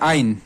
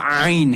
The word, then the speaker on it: عین: ہے وا، پھر ہے عین، عین کو وسط حلق یعنی حلق کے درمیانی حصے سے پڑھنا ہے. کچھ لوگ پڑھتے ہیں آئین، آئین نہیں ہے، یہ آئین ہے.